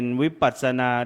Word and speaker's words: วิปัสสนา: เวลา พิธีกร อ่าน ว่า วิ นี่ วิ ต้อง อ่าน ให้ เต็ม นะ วิปัสสนานะ เดี๋ยว อ่าน ไม่ เต็ม กลาย เป็น วิปราช นั้น เดี๋ยว อ่า อ่าน พิธีกร